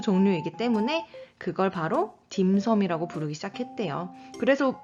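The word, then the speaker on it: 點心: 많이 들어보셨을 거에요 김성 중국어 발음으로는 da 신 dance 라고 발음을 하고 홍콩식 빨 그러니까 광동어 발음이 되겠죠 이 발음은 딤섬 이라고 발음을 해요 자의 김 섬은 우리가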